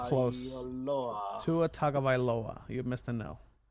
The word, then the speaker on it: Tagovailoa: May, How do you pronounce Tua's name? Uh, Tua Tagovailoa. Close. Tua Tagovailoa. You missed a no. Tagovailoa.